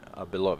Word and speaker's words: Belov: All right, everybody, we are here with Belov. Is that how you pronounce it?